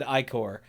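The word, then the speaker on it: Ichor: That was really loud, and she said Icor, and I hate her. Yeah, no, I'm not on board with that. Yeah, like Icoria, I guess, makes sense because it's a proper place in IKOR, yeah, but no. We refuse. You can pry my short I pronunciation out of my cold, dead hands.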